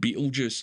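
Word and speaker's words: Betelgeuse: some reason or another it just gets pronounced Beetle Juice there's been a lot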